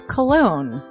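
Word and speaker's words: Colon: It is a self-published book by Christopher Cologne. Chris Cologne? Smells good to me. But look at her. That broke that fucking cold little exterior. He's like, hee. But it is spelled C-O-L-O-N.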